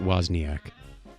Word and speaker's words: Wozniak: this date in 1950 i believe he pronounces it wozniak what'd i say